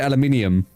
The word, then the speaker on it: aluminium: say aluminium aluminium aluminium americans we don't say aluminum aluminum we say we say aluminium but that's also because